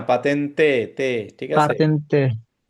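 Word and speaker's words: patente: আছে কি হবে না পাতেনতে ঠিক আছে পাতেন্তে এ এই উচ্চারণটা ঠিক করবেন সবাই পাতেনতে বলা হয় এটাকে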